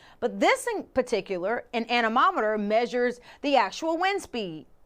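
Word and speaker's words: anemometer: Now, it rhymes with thermometer, but it's not a thermometer. The word is animometer.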